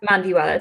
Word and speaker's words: Mandiwala: I hope I'm also not mispronouncing your last name, Mandiwala. And is that correct? Yes, Mandiwala, thank you.